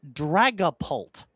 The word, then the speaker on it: Dragapult: That is Dragapult, like a dragon catapult.